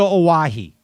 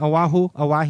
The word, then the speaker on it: Oahu: i'm looking for pretty much you're going to owahi right am i saying it right oahu yeah are you did you google that i